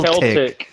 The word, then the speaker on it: Celtic: Celtic.